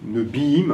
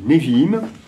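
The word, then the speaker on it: נביאים: y a des prophètes, les Neviim en hébreu, Nebim, en fait, c'est le le V qu'on on prononce B quand dans certaines certains moments et Névim, un nabi au singulier, les prophètes n'interviennent pas en état de trans.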